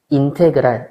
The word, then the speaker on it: 인테그랄: 그래서 이게 적분 있니다 어떻게 읽느냐 인테그랄 FX DX 이걸 인테그랄이라고 읽어요 인테그랄 FX DX 적분함수